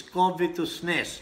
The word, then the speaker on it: covetousness: Sabi ng iba, but the proper way to say is covetousness, no?